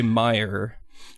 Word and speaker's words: Meyer: All your base, cool guy, Robert August de Meyer. Rhymes with fire.